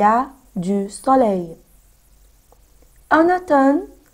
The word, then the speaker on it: automne: En automne, on ne prononce pas le M. ما بقولهاش automne. D'accord? On dit en automne.